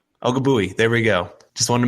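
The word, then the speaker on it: Ogbuehi: Ogabui.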